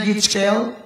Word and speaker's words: GHIJKL: Anak pertama ABSDEF, anak kedua GHIJKL bacanya GIJKL.